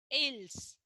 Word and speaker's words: aisles: That is not, see here in sentence number 3, AISLES, aisles. That is not aisles, that is aisles. S is silent, children.